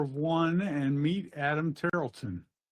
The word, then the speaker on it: Tarleton: Welcome everyone to meet follower of one and meet Adam Tarlton. I'm saying that right? Correct. Tarlton. Tarlton. But no worries. Only people that live near Tarlton State seem to pronounce my name right.